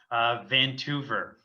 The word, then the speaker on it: Toever: Toever. Vancouver. Easiest James way Vancouver. to know is it rhymes with Vancouver.